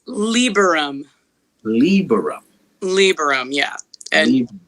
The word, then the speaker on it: Lieberum: How do you pronounce the last name? It's Lieberum.